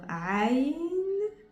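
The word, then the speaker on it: عين: C'est une lettre où la plupart des Français, ils ont pris l'habitude de la prononcer par A ou par O. Alors, aujourd'hui, on va essayer de la prononcer comme il faut ou au moins de la comprendre.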